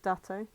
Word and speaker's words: Date: view and so we're starting off with Detective dato that's how you pronounce his name that's a yeah and uh